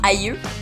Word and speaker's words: aïeux: que la voyelle qui précède le tréma se prononce séparément. On va l'utiliser pour le E dans Noël, pour le I dans aïeux, pour le I encore dans oui ou dans taïga.